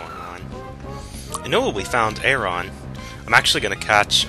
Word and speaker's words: Aron: I know we found Aron. I'm actually going to catch, or Aron. It's like iron, except it's spelled, you can see, with an A instead of an I.